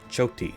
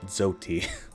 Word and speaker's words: Choti: is what it is lastly we have choti choti not zoti like I was pronouncing her name in the last video so we're gonna